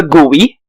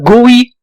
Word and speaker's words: GUI: line and now a history lesson before the gui computers used a command line interface type in text to get results it was 1984 and the gui was still new yes that's how it's pronounced